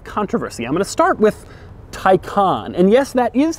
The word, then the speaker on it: Taycan: how you say it Tyco on and not take on which is odd because it looks like it would be pronounced take on but Porsche assures me that it isn't it's also strange because